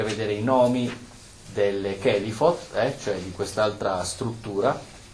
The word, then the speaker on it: Kelipot: E quindi sicuramente affrontare, oltre alle Sefirot, tutto il percorso delle Kelifot, pare che si pronunci così, Kelifa, Kelifot sono i nomi dell'equivalente delle Sefirot.